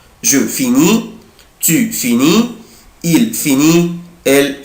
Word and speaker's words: finis: لاحظت ايه؟ je prononce pas، انا مش بنطق لا لتر اس ولا لتر تي، انا مش بنطق لا الاس ولا تي، يعني اي اس اي اس اي تي مش بنطق.